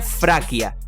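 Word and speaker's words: Фракия: De hecho, en ruso, por ejemplo, Tracia se pronuncia Fraquia.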